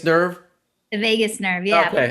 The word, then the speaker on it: vagus: The vagus nerve. the vagus nerve, yeah. Okay, It's I not won't forget that. spelled like Las Vegas. It's spelled Vagus, but vagus nerve.